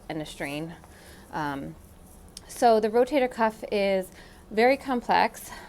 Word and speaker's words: rotator cuff: mentioned before it's a rotator cuff it's not a rotary cup it's not a rotator cup cup or whatever people say it's a rotator cuff that's often often a mispronounced term so and what that